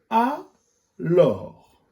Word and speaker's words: alors: Le premier mot-outil, alors. Et le S à la fin, il est muet.